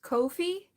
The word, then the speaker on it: Ko-fi: I'm I set up I looked up the pronunciation and it's Kofi Ko-fi.